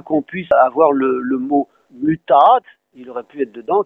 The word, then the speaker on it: mut: Et d'ailleurs, nous, on prononce bien un mut avec un U long.